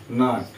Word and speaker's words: gnat: আবার দেখো যেমন বলছি GNAT, নাট। এই নাটটা বলছে নাকি ভালো মন্দ, মানে কি ভালো মন্দ, এরকম ভাবে আমরা উচ্চারণগুলো করে থাকি।